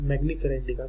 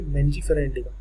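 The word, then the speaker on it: Mangifera indica: आप इसको क्या लिखेंगे, मैंजीफेरा इंडिका, इसको प्रोनाउंस करिए, ठीक है, मैंजीफेरा इंडिका। तो यहाँ पे मैंजी एन पहले आ रहा है जी बाद में, मैंजीफेरा इंडिका, ऐसे ही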